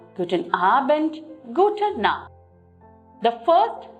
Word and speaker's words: Guten Abend: Guten Abend. Here too, when you look at the word Abend, the word ends with D, but we do not take the D pronunciation, but we end it as T.